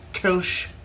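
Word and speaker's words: Kölsch: It is normally spelled K O L L S C H pronounced Kulch. Uh I guess this is just Kulch.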